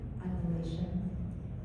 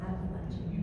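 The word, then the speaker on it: Appalachian: Do you pronounce betrayal appation footpath or appalachin footpath? And do you think it's important? Appalachin is how I said it growing up.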